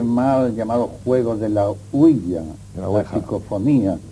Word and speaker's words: ouija: fenómenos, y sobre todo con la huilla, que es así como se pronuncia. Generalmente se dice ouija, pero la verdad es que oui es sí en francés y así se pronuncia, y ja es ya, que es sí en alemán.